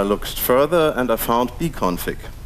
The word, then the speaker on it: bcfg2: Then I looked further, and I found bconfig. Yes, it's spelled bcfg2, but the developers all just call it bconfig for short.